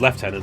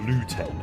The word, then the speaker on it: lieutenant: Luigi oh fair and as left tenant not Lieutenant as the Americans pronounce it ah you would have constant Wars in your comments with that well no I win because you know I'm British it's how it's pronounced sorry the American don't